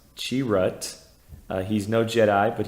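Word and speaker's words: Chirrut: moving on to donen's cherit inway pronounced chirat uh he's no Jedi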